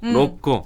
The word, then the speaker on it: 로꼬: 그럴 때는 코하고 꼬 발음 중간 정도로 하면 돼요. 로꼬.